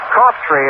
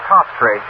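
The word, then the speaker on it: Coughtry: in that strike one cop tree is the way fellow pronounces his name but spell c-o-u-g-h-t-r-y but he pronounces this top tree James Marlon country class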